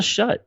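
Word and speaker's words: Schutt: But you're not sure if that's how it's pronounced. It's shut. S-C-H-U-T-T.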